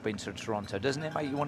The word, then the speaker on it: Toronto: say Toronto we say Toronto Toronto Allan says Toronto he does he's British originally mhm actually in Toronto we don't pronounce the 2ts it's happening in the men's